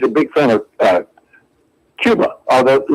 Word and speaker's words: Cuba: It turns out that she's a big fan of uh Cuba, although she she pronounces it Kuba.